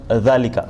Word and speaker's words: ذلك: ذلك That's how you pronounce it. Okay. Okay. Let's just listen and get familiar with the term dhalika.